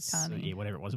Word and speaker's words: sabachthani: You said Sabachthani. whatever it was. You got one syllable back to front, but that was it.